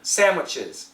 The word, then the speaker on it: sandwiches: choosing sandwiches once again lots of Americans will just say sandwiches sandwich es almost with an M sandwiches sandwiches but her pronunciation is very clear typical of women if you study Seinfeld we have elain elain's pronunciation is usually quite clear especially compared to Jerry so in her case she says sandwiches sandwiches sand the D actually goes over here sandwiches sandwiches over more